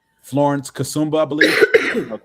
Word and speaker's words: Kasumba: From um Wait, how do you pronounce her name? James Florence Kasumba, I believe. Okay. Or Kassuma. Florence Kasumba, excuse me.